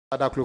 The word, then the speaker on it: Adaklu: So, Kwame, hometown, you have Adaklu, Kodiabe. Correct me if the pronunciation is. Yes. Adaklu, Kodiabe.